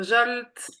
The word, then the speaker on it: Zsolt: So Zsolt. You pronounce it really well, Maite. I appreciate it. Yes, my name is Zsolt.